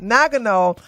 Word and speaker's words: Nagano: uh n Nago Nagano I that's how you pronounce it Nagano 1998 are all available neither the Olympics nor